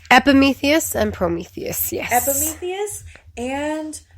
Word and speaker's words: Epimetheus: How's it pronounced? Epimetheus and Prometheus, yes.